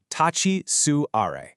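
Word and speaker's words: 立ち座り: It's pronounced tachi suare and it literally just means stand, sit.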